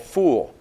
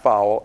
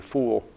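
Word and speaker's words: ful: You know, it's what you think would sound like fowl. It's actually not fowl, and you're no fool if you eat foul.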